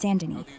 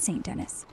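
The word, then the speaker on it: Saint Denis: goop mister yeah it's Sandin not Staint Dennis got that fancy French vibe right for chapter 6 you're out there running down the streets of Sandin dropping hellos to boost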